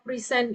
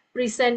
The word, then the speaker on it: present: Kalau kata kerja ee cara pengucapannya itu sedikit berbeda dari sebagai kata benda. Oke, kata kerja kita akan eh pronounce that as present. Oke. And then kalau kata benda cara pengucapannya adalah receive a present and pray. Oke, present and present.